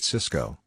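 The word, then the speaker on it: Sysco: company and tony bought cisco the food distribution company both stocks are pronounced exactly the same while cisco crashed cisco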